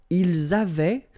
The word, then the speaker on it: avaient: Ils avaient, so remember, even if we've got this A-I-E-N-T, well, we don't pronounce it, or we don't pronounce this E-N-T, so we get avait, okay, phonetically. Ils avaient, okay, and then elles avaient.